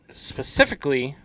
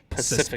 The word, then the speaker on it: specifically: She always says Pacifically. Specifically, yeah, like the ocean, Yeah, Pacific.